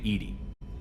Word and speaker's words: EDI: Why are you named Edy? Edy is the phonetic pronunciation of EI.